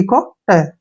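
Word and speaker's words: caught: CO को क्या पढ़ेंगे हम, क, ऐसे, क पढ़ते हैं ना, क। और UGHT को छोड़ो, T को ट, ऐसे, कॉट, क्या पढ़ना है, कॉट।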